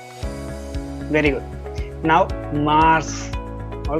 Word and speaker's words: mars: very good now mars all right mars it's just like mass all right it's mars